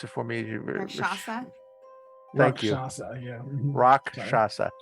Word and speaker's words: Rakshasa: In particular to see what the Rakshasa, pronounce it for me. Rakshasa?